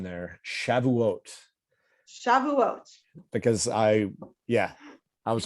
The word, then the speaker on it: Shavuot: like the good the the good eastern european pronunciation is shivuas shavuous yeah i wouldn't get that